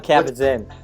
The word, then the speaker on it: Kabat-Zinn: John Kabat-Zinn.